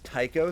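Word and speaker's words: Ptych: um who is uh his name is Tao spelled PT y c h uh because there's kind of a a little bit of a recurring bit of like some characters that have names spelled like that with silent pe's uh he's a uh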